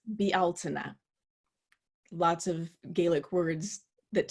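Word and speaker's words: Bealtaine: probably seen that word it's spelled as if it were pronounced Beltane but the gaelic pronunciation is BL tuna lots of gaelic words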